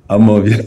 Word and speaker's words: Amawbia: My mom is from Amawbia, not Amawbia, and I'm sure she'll be happy I've corrected the pronunciation of her village. Amawbia, yes.